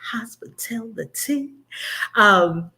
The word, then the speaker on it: HospiTellTheTEA: And every time you say it, I want you to say it like that, HospiTellTheTEA.